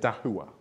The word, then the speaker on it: Dahua: But you pronounce it Dahua, okay? It's a Chinese brand.